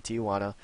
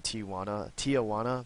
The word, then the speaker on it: Tijuana: And for the record, I had the hardest time pronouncing the name Tijuana, because like I want to put an A in there, like T-I-A, and then Juana, and then I got